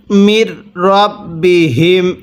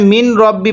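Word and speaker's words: من ربهم: পড়ুন মির রাব্বিহিম, এখানে মিন রব্বি পড়বেন না, মির রাব্বিহিম।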